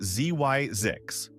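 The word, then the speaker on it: Zzyzx: So, he concocted the name ZX, pronounced Zyzix.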